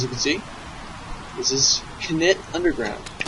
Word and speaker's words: Knytt: as you can see, this is Knytt Underground. Yes, you do pronounce the K.